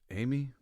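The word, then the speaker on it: Jaime: get it wrong the the Hispanic pronunciation of Jamie is apparently Amy hey I I'm not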